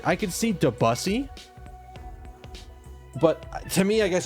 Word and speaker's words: Debussy: So it's supposed to be pronounced closer to Debussy. Not Debussy.